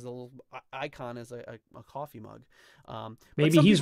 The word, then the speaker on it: Ko-fi: It says Coffee rhymes with no fee. That's how I know. Oh, okay. No fee. Coffee then.